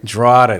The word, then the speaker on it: Drotar: It's Sonja Drotar. Drotar, that's what it is. Yeah. You know, you need like a little mark on the top of the O or something.